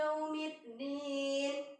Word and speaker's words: yaumiddin: Maliki yaumiddin, ya. Waw sukun itu, nak, bacanya u, ya. Jadi bukan o. Jadi maliki yau, bukan maliki yau, tapi maliki yau.